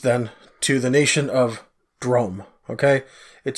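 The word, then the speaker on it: Droaam: to the east then to the nation of drum okay it spelled dro a a.m. but it's pronounced drum okay okay like dr ome alright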